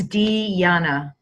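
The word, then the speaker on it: Dijana: raised in former Yugoslavia said the J is silent so it's deanna deanna deanna yeah okay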